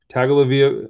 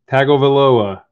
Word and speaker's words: Tagovailoa: the bat yellow press proof rated rookie tua tag olivia oh attack i can't even say his name tagovailoa tyler boyd wow butchered his name right there but you know